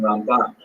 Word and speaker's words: Ramban: Rambam is pronounced with the emphasis on the first syllable, Rambam, and Ramban is pronounced with the emphasis on the second syllable, Rambam and Ramban.